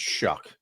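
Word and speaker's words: Shough: We we found out his name is Shuck. Shuck. Yeah, it's weird weird pronunciation.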